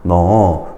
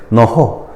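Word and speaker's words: 넣어: 너, 조은, 싸이다 이런 게 이제 예문으로 나왔죠. 이때 너허, 조흔, 싸히다 이렇게 발음하면 틀린 발음이야. 연음하면 틀린 발음이고 탈락해야 맞는 발음입니다.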